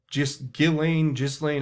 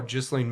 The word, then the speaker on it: Ghislaine: what they call pimp, Ghislaine, I call her Ghislaine Maxwell. I don't care what the French pronunciation is.